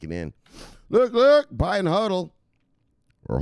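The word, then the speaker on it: HODL: now fuels kick him in look look buying huddle or hold yes how you're supposed to say it like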